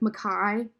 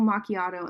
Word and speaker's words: macchiato: I'll just, like, they'll say, can I have a caramel, like, Mackay? And I'm like, oh yeah, I can get you a caramel macchiato.